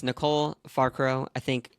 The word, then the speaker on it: Falcaro: her name it's Nicole farro I think if you pronounce it correctly in Italian from her grandparents uh ethnic background or guess her ethnic background it is falcaro um she is a